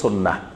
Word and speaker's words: সুন্নাহ: চিনতে পারে সাধারণ মানুষ, তো এই জন্য বেশি পরিচিত আমাদের দেশে সুন্নত নামে, কিন্তু এটা শুদ্ধ আরবি উচ্চারণ হলো সুন্নাহ।